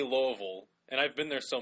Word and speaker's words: Louisville: think you know what's the funniest thing yeah Louisville locals say Louisville and I've been there so many times it's